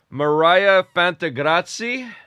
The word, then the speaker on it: Miryha Fantegrossi: We got Mariah Fantrati. Is that how you pronounce it?